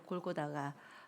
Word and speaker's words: 골고다: 우리는 갈보리라는 말이 익숙하지만 그 갈보리는 라틴어에서 파생된 영어 발음이잖아요. 근데 아람어, 그 당시 예루살렘에 사는 히브리 사람들이 사용했던 말로는 골고다입니다.